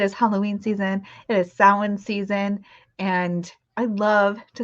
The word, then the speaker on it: Samhain: Samhain, it's spelled, just so you know, if you're not familiar, it's spelled like Samhain, Samhain, but it's pronounced Samhain.